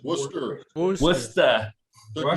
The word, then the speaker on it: Worcester: If I said It's Worcester. Worcester. Took me 6 Worcester? months to You gotta learn pronounce it like Worcester.